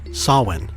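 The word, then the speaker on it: Samhain: We know that the Kelts in Ireland, Scotland, and the Isisle of Man celebrated something called Sawin. It's spelled S A M H A I N. Sawin, super phonetic.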